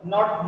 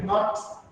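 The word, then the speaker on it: knot: The next one is not note. Here K is silent, so it will be not, then not. Note. Okay. So not is K is silent, so it will pronounce as not.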